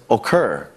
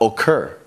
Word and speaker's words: occur: In two-syllable verbs, such as occur and happen, we have to be focused on where the stress in the verb comes. Here, we've got occur. The stress is on the end of the word.